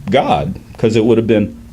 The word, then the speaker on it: Gad: So you would get a pronunciation of what we call Gad today would actually have been pronounced God, because it would have been ah.